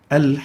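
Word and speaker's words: الحاقة: Al-haqqa is a word, and we pronounce it as al-haqqa. Al-haqqa.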